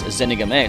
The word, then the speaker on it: Zenigame: Like, Squirtle's Japanese name is Zenigame, and I usually think it was Zenigame, but then I heard it pronounced, it's Zenigame, so it's like, well, I guess I've been saying it wrong my entire life.